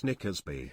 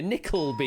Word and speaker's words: Nickleby: Nicholas Nickersby. Nickersby. Phonetically plausible, yeah. Nickleby you're looking for there, yes.